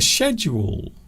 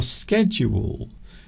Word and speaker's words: schedule: Is there a correct way to say schedule? Is it schedule or schedule? These days, both are acceptable.